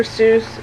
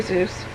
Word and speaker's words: Seuss: Seuss hat, which if you aren't aware, it's actually not Dr. Seuss as it's pronounced, it's Dr. Seuss. But everybody pronounces it Dr. Seuss.